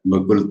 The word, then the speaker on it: Bakul: So it is called Bakul Ghat, Bakul Tala Ghat, and the feet of the bakul tree. Here V is written because the Bengalis pronounce V as Bha. In other languages, B will be written, Bakul, Bakul.